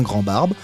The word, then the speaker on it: Grandbarbe: Grandbarbe, comme une grande barbe, mais sans E.